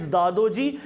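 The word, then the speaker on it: Dadoji: English वाले pronunciation पे ध्यान देना, इट्स दादोजी, हिंदी में दादाजी।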